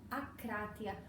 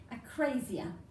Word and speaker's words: akrasia: enkratia for continence and akratia for incontinence. And that's how the Greeks would pronounce it. British people tend to pronounce it slightly differently. They say akrasia.